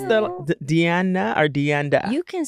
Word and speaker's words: Deanda: Did I pronounce the Deanna or Deanda? You can say it however you want. You can call me if you want. in the building. Yeah, but Deanda.